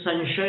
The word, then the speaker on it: संशय: फिर संशय का उच्चारण कैसे करते हैं? म बोलते हैं, स के ऊपर अनुस्वार है, फिर उसके बाद में तालव्य श है, शक्कर वाला, फिर य है।